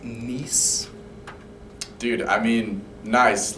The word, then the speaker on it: Nice: It's actually pronounced Nice.